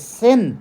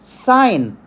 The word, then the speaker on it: sine: this true calculator now many people I heard that they are pronouncing it as Sin it is not sin it is a trigonometric ratio which is called sine and that is the ratio